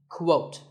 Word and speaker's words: quote: is the word quote this is not pronounced the same as coat the correct way to say it is with a cool sound at the beginning quote similarly we have quotation